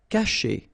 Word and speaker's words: cacher: Cacher. Okay, so remember, when you combine this C and A, you get the sound K, okay? And then cher, cacher.